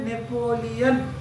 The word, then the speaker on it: নেপোলিয়ন: Next পরবর্তী, পরবর্তী সমুদ্রগুপ্তকে, সমুদ্রগুপ্তকে, সমুদ্রগুপ্তকে single quotation শুরু করো, ভারতের নেপোলিয়ন, ভারতের নেপোলিয়ন, মানে দেখার সময় লিওন অন্তস্থ অন, নেপোলয় অন্তস্থ দন্তন্য, কিন্তু উচ্চারণ হবে কি নেপোলিয়ন, কারণ ইংলিশে লেখা হয় NEPOLEAN বা LIAN, ঠিক আছে, নেপোলিয়ন, বাংলায় নেপোলিয়ন।